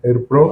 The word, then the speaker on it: HerPro: Tu empresa que es Airpro, así se pronuncia.